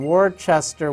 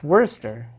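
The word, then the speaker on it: Worcester: c EST er massachusetts so it looks like word sester Worchester wart or something but my family they're you know it's it's werster it's just you go to werster and it makes no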